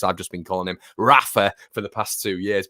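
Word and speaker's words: Raphinha: with regards to rafinha they actually called him haffinia which i like quite a bit hafin yeah um might start pronunciation like that to be honest with you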